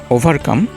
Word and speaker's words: ওভারকাম: RT silent করে আমি উচ্চারণটিকে কীভাবে করছি please listen one more time. ওভারকাম। ওভারকাম, নট ওভারকাম। Next ওয়ার্ডটি দেখব যে স্টুডেন্টস,